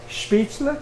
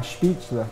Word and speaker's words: Spätzle: Spätzle? Spätzle. It's L-E, not E-L. Uh-huh. Spätzle.